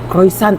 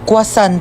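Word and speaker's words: croissant: Croisant daw. Croisant? Ah quasant po.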